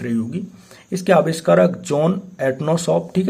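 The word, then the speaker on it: Atanasoff: इसके आविष्कारक जॉन एनोसॉफ ठीक है? एटोनीशॉप नहीं एनोसॉफ मान लो और ईबेरी इन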